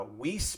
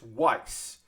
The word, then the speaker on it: Weiss: about this kit before i was saying um uh whis but it's weiss it could i could be wrong i believe the weiss barsom from gundam build